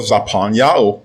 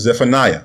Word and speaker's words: Zephaniah: Now let's go over to the book of Zaphaniah, mispronounced as Zephaniah, chapter 3 and verse 9.